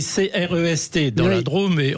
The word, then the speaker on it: Crest: alors effectivement, ça s'écrit C-R-E-S-T dans la Drôme, et on dit Crest comme s'il y avait un accent circonflexe, en quelque sorte comme forêt, vous voyez, forestier, forêt, Crest, et c'est la ville chère à Hervé Mariton.